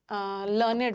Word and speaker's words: learned: यूज कर लेते हैं, लेकिन इसका प्रोनाउंसिएशन अलग होता है। ओके, लर्नेड होता है एडजेक्टिव के सेंस में, एडजेक्टिव के सेंस में तो यू हैव लर्नड भी सही होता, ये भी सही होता।